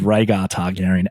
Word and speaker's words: Rhaegar Targaryen: Now, I will start because Jon Snow is the trueborn son of Rhaegar Targaryen and Lyanna Stark. Did I pronounce that right?